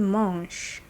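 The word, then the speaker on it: mangent: Vous mangez, il mange. Il mange. Don't pronounce that NT, just mange.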